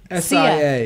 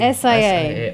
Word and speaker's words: Sia: S-I-A. S-I-A. Oh, yeah. You'd think it would be pronounced Sia, but it's actually Sia. Sia Furler.